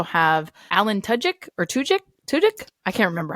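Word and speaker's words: Tudyk: Alan tuik or toic tudk I can't remember how to say his last name tudk I always say tudk but you have to say it fast because otherwise it sounds like to dick and that's inappropriate so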